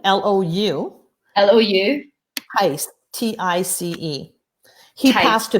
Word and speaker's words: Tice: How do you pronounce his name? Lou, L-O-U. L-O-U. Tice, T-I-C-E.